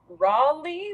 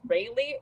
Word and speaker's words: Raleigh: friend lives in either Raleigh which I always pronounced in my head as Ry or Charlotte one of